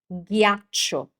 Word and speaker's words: ghiaccio: So, even g h is a hard sound, it's g g like in this word, which is a nightmare for many, many students. Ghiaccio. Ghiaccio. So, remember the h always makes sounds hard in Italian.